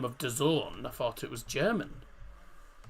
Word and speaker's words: DAZN: is it Dazn or Dazon? Dazon, I believe it's pronounced.